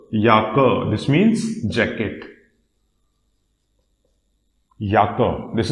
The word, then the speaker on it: Jacke: But in German, this is pronounced as Jacke. Jacke. This means jacket. Jacke. This is Jacke because this letter J has a pronunciation same as letter Y.